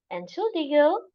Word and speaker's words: Entschuldigung: How do we pronounce this? Guten Tag. Entschuldigung.